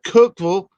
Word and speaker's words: Cookeville: it's spelled c it's it's called Cookville but is spelled Cookeville it's got a e and it Cookville happy